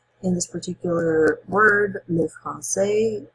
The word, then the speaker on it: français: In this particular word, le français, if you didn't have the CD in there on your C, it would be le franquais.